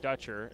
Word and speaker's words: Dutcher: it's uh dutcher dutcher dutcher is uh how you pronounce her last name uh dutcher 6-1 sophomore